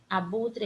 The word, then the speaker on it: abutre: Abutre é escrito com a letra E no final. Abutre é o som de I, mas se escreve com E. Abutre.